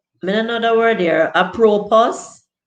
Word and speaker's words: apropos: I mean another word here, apropos. And if the S is silent, I guess it's apropos.